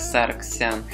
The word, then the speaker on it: Саргсян: После избрания президентом Армении Серж Саргсян потребовал, чтобы русскоязычные средства массовой информации передавали его фамилию как Саргсян в соответствии с нормами армянского произношения.